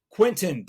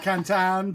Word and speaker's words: Quintin: Quintin, please, or excuse me, Quintin.